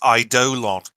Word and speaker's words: Eidolon: But I looked up the official pronunciation and thought, nah, I'm saying Eidolon. Apparently, the official pronunciation is Eidolon.